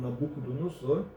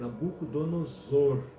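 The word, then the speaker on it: Nabucodonosor: pouco ó tem gente que pronuncia Nabuco donosor som de s né E na verdade é som dizer Nabuco Don nozor porque temos aí duas vogais e o s no meio aí né o oo ali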